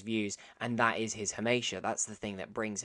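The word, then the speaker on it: hamartia: Hamasha is a character's tragic flaw, or Hamasha, but this is spelled with an R. I thought it was Hamasha.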